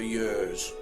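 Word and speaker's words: Hyères: On the 3rd of January we set off for Yers, which incidentally is spelt Hyres.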